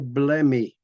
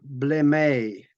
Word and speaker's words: Blemyae: They were called the Blemyae or Blemmyae. That depends on how you would pronounce it.